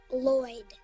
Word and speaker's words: Lloyd: No, it's pronounced Lloyd.